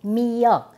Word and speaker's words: 미역: of seaweed edible seaweed, but this is called "miyeok" in Japanese it's called "wakame" Miyeokguk is very